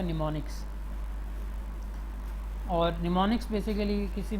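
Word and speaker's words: mnemonic: M यहाँ पे first M इसका साइलेंट है तो इसको निमोनिक पढ़ेंगे।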